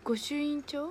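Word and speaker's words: 御朱印帳: この間発売された、見て、御朱印帳って読む、これ御朱印帳です。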